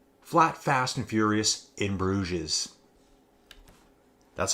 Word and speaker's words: Bruges: one fast flat flat Fast and Furious in brues that's how you say it folks that's how